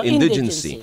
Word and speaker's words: indigency: Uh, Certificate of um, in indigency. How do you, ano naman tamang bigkas? Di ba indigent yun? So, so my So, indigency.